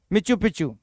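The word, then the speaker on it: Machu Picchu: हाँ, मिच्चू पिच्चू यही रहेगा इसका प्रोनाउंसिएशन, लिख कर देखना आप।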